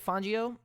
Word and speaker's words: Fangio: we are coach vic font uh fangio vic fangio so uh that's how you pronounce it just you know so yeah let's